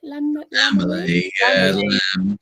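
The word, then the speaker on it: Lambily: Lamberley, yeah.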